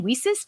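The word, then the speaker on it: WiCyS: executive director we often go by our acronym we sis w-i-c-y-s is how we spell it and we pronounce it we sis like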